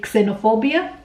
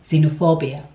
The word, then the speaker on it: xenophobia: Did you say xenophobia or xylophone? Unfortunately, that is wrong. The X is actually pronounced as Z, xylophone, xenophobia.